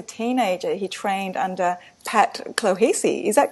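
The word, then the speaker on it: Clohessy: Robert, at the age of 14, was an outstanding track athlete, and as a teenager, he trained under Pat Clohesi. Is that correct? How I That's right.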